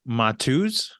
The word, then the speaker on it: Mateusz: MATEUSZ?